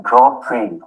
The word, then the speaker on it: Grand Prix: X as in Grand Prix.